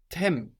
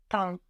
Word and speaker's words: temps: But then we have tem. No, if I say it how it's written. But there again we have an M on the end of the syllable. So how would that sound in French? Temps.